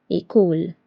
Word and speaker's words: école: L'accent aigu is placed on E and it sounds like A like A in English. For example, débutant. Débutant means beginner. Étudiant. Étudiant means a student. École.